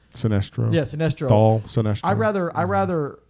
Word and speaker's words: Sinestro: Rivals and this how do you say his sinistro Sinestro yeah I'd rather I rather have him as